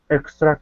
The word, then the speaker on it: extra: here her extra confidence extra confidence now with the tr you want to pronounce that like a ch okay so the t